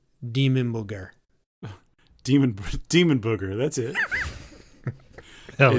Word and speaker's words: Dimmu Borgir: We got DK, how do you pronounce Demon Booger? Demon booger. That's it. Hell It's, yeah. I had a start of my rating, dude. Hell yes. That's how you say it. Dimmu Borgir is how I've always said it.